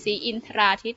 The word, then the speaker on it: ศรีอินทราทิตย์: คำ ที่ 12 * ศรีอินทราทิตย์ อ่าน ว่า ขุน ศรีอินทราทิตย์ นะ คะ อ่ะ ก็ อ่าน ได้ สอง แบบ อีก แบบ ก็ อ่าน ได้ ว่า ขุน ศรีอินทราทิตย์ แบบ นี้ ก็ ได้ นะ คะ อินทรา อิน ทะ รา ก็ ได้ แล้ว ก็